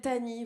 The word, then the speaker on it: Tahnee: Moi, je me présente, je m'appelle Tani, voilà. Tani, c'est un prénom d'origine indienne. Ça s'écrit T-A-H-N-E-E.